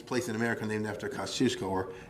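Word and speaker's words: Kościuszko: in america named after kosciuszko or as they say in new york koskiovsky because they can't pronounce it you know the famous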